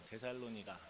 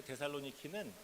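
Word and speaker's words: Θεσσαλονίκη: 데살로니가 인 의 교회에 편지 한다 라고 써있어요 데살로니가 그래서 이 말씀이 데살로니가전서 줘 그때 우리가 사실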